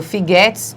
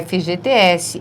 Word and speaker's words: FGTS: Eu já escutei pessoas dizendo Figuetes, mas não existe. É FGTS, é PSDB, CNBB, INSS, ABNT, enfim, essas siglas, não é?